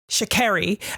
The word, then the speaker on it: Sha'Carri: She was like getting asked questions and they were getting her name wrong. And she was like, first of all, it's Sha'Carri.